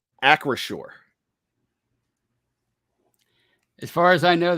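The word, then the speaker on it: Acrisure: me out with this make sure i'm correct across shore as far as i know that's the uh the right pronunciation accuracy stadium yeah tony let me ask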